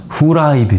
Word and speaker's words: 후라이드: Korean fried chicken, we pronounce 후라이드 chicken as we don't have F in our language.